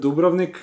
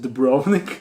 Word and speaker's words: Dubrovnik: And while I was on vacation 2 weeks ago, I visited Dubrovnik, or how Americans pronounce it, Dubrovnik.